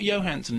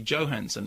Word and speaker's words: Johansson: Not Johansson, incidentally, Johansson. We have to be correct about this. Scarlett Johansson. Did she tell you that? No, it's a known fact. That's how her name is pronounced. Everyone calls her Johansson, but it's Johansson.